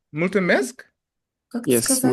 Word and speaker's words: mulțumesc: Multimesk? Как ты Yes, сказал? mulțumesc.